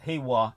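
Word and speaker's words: 平和: But it's pronounced Heiwa in this case. Yeah. So like Heisei. Yeah.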